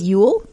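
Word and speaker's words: Jul: um number three is Ule Copenhagen Denmark Copenhagen celebrates Ule as in U tide it's spelled j with a Christmas crafts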